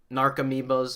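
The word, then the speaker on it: Narcomoeba: because it deals with narco amoebas narc amoebas is the correct way of pronouncing that card um stinkweed imps temporarily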